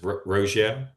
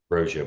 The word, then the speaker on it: Roggio: Uh, and, is your is your last name pronounced Roio? That's correct. Roio.